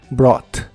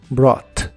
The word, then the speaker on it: brought: el pasado es br las letras u g h de esta palabra realmente no se pronuncian Así que se dice br br y lo puedes usar